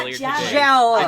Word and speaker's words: Jala: Jala. It's Jala. It is For- he was in the old pronounced podcast.